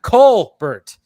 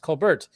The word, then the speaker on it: Colbert: was your name like it's supposed to be Colbert I'm like I thought it was just Colbert okay but anyways yeah